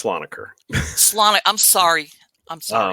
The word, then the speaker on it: Slonaker: It's Slonaker.